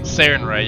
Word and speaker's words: Sarenrae: I think that's how it's pronounced. Sarenrae. Sarenrae, yeah.